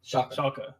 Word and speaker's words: Schalke: Yeah, so like Schalke, however the fuck you pronounce it. Schalke.